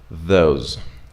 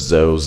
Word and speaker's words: those: example for the sound those instead of Zoe's and those then we have then